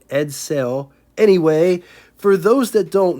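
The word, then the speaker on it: Edsel: I'm going to try to say it right edell anyway for those that don't know Ford had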